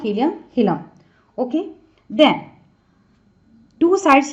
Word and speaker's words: hilum: Okay, chemistry में होता है ना हाइड्रोजन, हीलियम, नाइट्रोजन, तो हीलियम, लेकिन वहाँ यहाँ स्पेलिंग इज डिफरेंट.